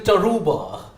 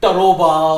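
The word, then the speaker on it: Tarouba: So the pronunciation Taruba. So that is the reason why I didn't want to make it Taroba or some other kind of thing.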